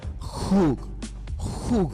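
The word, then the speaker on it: חוג: una palabra hebrea que se pronuncia Hug con G. No es una J, es una G, pero lo que más se parece en español es como una J con una G. Jug, como si fuera jugo, pero que le quitan la O.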